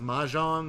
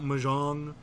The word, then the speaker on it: mahjong: like Amazon tile Draco is pronounced mahjong not mahjong I don't care who you